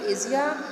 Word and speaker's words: Asia: The discovery of Asia or Asia, it can be pronounced both.